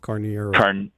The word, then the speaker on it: Carneiro: So we got Carlos Canario, I guess it's pronounced. It's like Carnero. Canero, okay. CANEIRO. CARNEIRO. Yeah, CAR. Oh yeah, Carnero. Canero. Yeah. It's Portuguese.